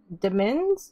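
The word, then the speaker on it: demesne: s and e okay it's pronounced like domain but with a d and it makes me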